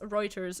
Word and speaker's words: Reuters: sent uh this article this roters Reuters Reuters is how you say that in English yeah article uh Ukraine